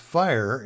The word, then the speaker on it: FHIR: So let's take a look at HL7 FHIR, pronounced FHIR, and it stands for Fast Healthcare Interoperability of Resources.